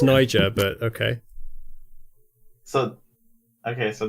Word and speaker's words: Niger: are two different countries it's pronounced Nyjah but okay so okay